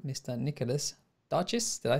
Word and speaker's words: Nicolas Darchis: joined with a very nice guy called mr nicholas duchess did i say that i pronounce that right yes yes so if you have to say it with the french porsche accent it's nikola darshi but anything is fine with me like